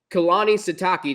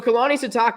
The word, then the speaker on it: Kalani Sitake: you is, unlike Scott Satterfield, your head coach, Kalani Sitake, did I pronounce that right? You got it. Yep. Okay. See, I always like to make sure. So Kalani Sitake is going into his 8th season.